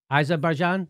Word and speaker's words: Azerbaijan: Azerbaijan? Okay, that's how you pronounce it?